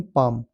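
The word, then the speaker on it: palm: पाम पी ए एल एम पाम इसमें नहीं है। एल साइलेंट है।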